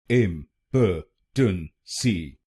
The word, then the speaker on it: impotency: it becomes impotence impotency im patan si im patan s impotency impotency and in this word you have to put stress on the first syllable impotency impotency in wrong